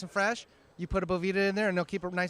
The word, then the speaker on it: Boveda: i saying it wrong is it boveda it's it is boveda but hey everyone says bovita or it's a bunch of different things so okay do with